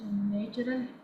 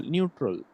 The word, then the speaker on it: neutral: Sir, distilled water is natural in nature. Neutral, neutral. That is pronounced as neutral.